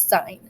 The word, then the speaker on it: sin: And even though it's sin, you pronounce it sine, even though you write it as sin.